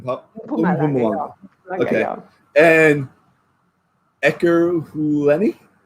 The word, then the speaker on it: Mpumalanga: So I hit that M in the beginning. Mpumalanga.